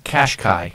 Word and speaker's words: Qashqai: Which, while we're on that, the styling of the cars, I mispronounce it every time, Tom. How do you say it? The Nissan Qashqai.